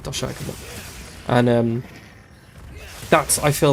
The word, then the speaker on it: Doshaguma: I think you face Doshiguma. Is it Doshiguma or Dogashuma? I think it's Doshiguma before this. Or Doshaguma, I think that's how they pronounce it, Doshaguma.